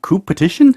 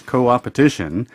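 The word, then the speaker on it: coopetition: how to pronounce it you might think coop petitioned competition mmm coup petition no its co-op edition because a combination of cooperation and competition okay so CO and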